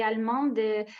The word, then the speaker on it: allemande: On dit allemand, c'est si masculin et on dit allemande, c'est si féminin.